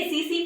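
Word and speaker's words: tsetse: next is नी से आ गया हमारा स्लीपिंग सिकनेस को कोज करने के लिए सीसी फ्लाई, हम टी साइलेंट होता है इसमें, सीसी फ्लाई जो है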